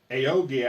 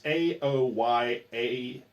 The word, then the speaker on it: Aoyagi: Her name is Aogi, I think. I'm mispronouncing it horribly. It's Aoyagi. Oyagi, I think.